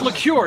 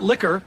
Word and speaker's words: liqueur: It's pronounced liqueur, not liquor.